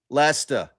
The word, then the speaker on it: Leicester: Leicester.